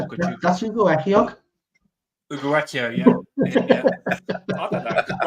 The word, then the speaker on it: Ugochukwu: That's Ugochukwu.